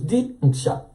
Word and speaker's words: Diksha: So, in this phrase, Diksha, there are two syllables, Diksha.